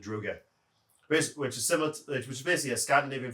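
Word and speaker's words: draugr: The zombies themselves are a mix between your traditional zombies and Druger or Drogue. I'm going off Skyrim how they pronounce it, Druger, which is basically a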